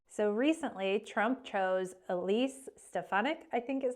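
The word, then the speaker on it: Stefanik: in Congressional hearing so recently Trump chose Elise stefanic I think is how you say her name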